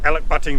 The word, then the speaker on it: Elachbutting: you can do here so it is alec butting rock is the correct pronunciation well that's the way it's spelt anyway